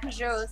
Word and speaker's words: Peugeot: I just today learned that Peugeots are pronounced Peugeot, so I'm still in shock.